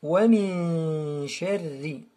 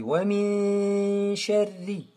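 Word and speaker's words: ومن شر: Ici aussi, wa min sharri. On ne prononce pas le nun.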